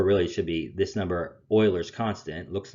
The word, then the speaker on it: Euler: interesting concept known as euler's constant euler's constant almost spelled like the football team in case 5 we